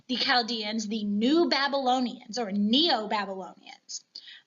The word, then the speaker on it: Chaldeans: And these were the Chaldeans. And I know it's a CH, but it is pronounced with that K, hard K sound, not a CH sound.